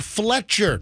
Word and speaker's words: Fletcher: Why did I say Fischer? All right. Anyways, Fletcher, the parents of a badly neglected Louisiana woman found melted into a maggotinfested couch, were each sentenced to 20 years in prison after pleading no contest to manslaughter. Sheila and Craig Fletcher, not Fischer, were arrested in January